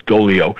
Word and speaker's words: Doglio: it was Doglio, but the G is silent, so it's Dolio.